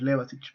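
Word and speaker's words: Levačić: Y el más fácil de recordar siempre es Levasich. ¿Por qué? Y digo ich porque recuerden que cuando está en IC se pronuncia ich en español.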